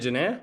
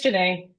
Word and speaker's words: Janae: Is it Janae? Is that how you say it? Janae? Almost. It's Janae.